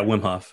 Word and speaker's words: Wim Hof: whm Hoff uh yes is that how you pronounce it yeah Wim Hoff Yeah Yeah he talking about him and like